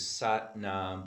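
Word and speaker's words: Sat Nam: Satanama, which is Satnam broken into 4 syllables.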